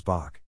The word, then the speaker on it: Bock: to their bavarian accent citizens of munich pronounced ein becca's einbach and thus the beer became known as bach as a visual pun